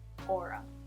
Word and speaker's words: Aura: Aura.